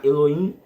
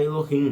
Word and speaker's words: Elohim: Alguns vão pronunciar Eloim, outros vão pronunciar Elohim. Não tem problema.